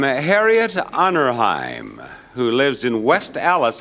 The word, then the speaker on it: West Allis: I got a letter from Harriet Honorheim, who lives in West Allis, I believe it's pronounced, A-L-L-I-S, Wisconsin.